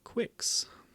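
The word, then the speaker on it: Qix: it as well um quicks so that's how you pronounce it Quicks I I didn't know if it was kicks or what anyway there's debate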